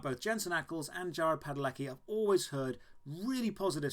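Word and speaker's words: Padalecki: I think it's Padeleki. I want to say Jared Padeleki.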